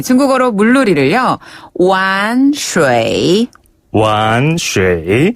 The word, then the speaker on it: 玩水: 玩水 완水 한 번 더, 玩水 완水 라고 해요. 예. 여기서 완이란 단어는요, 놀다, 장난하다 라는 뜻을 가지고 있는데요. 이 완자, 완성할 때 그 완자랑 발음이 똑같은데, 예.